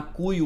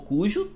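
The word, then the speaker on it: Cuyo: pouco a pronúncia então a região central se chama cuio ou cujo né as duas vocês vão ouvir as duas pronúncias assim como mendoça vocês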